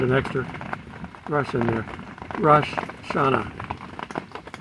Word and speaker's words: Rosh Hashanah: extra rush in there rash shana is the proper way to pronounce it but in any case we say russia china it sounds more fluid and it's probably because